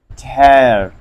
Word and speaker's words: tear: Tear. T plus air. Tear.